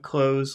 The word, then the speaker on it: clothes: dream and closes okay but you don't you don't really pronounce the th and close it sounds like close the door the door okay clo